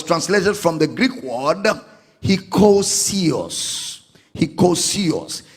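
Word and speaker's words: hekousios: willingly willingly was translated from the Greek word hosio hosio h e k o u s i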